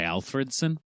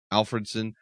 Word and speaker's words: Alfredson: I would say Alfredson. Alfredson.